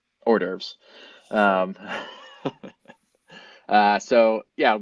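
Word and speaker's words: hors d'oeuvres: I think they do orves if I remember correctly to that or on Christmas Eve they do ores you gotta pronounce it with a it's almost Jewish or derves um uh so yeah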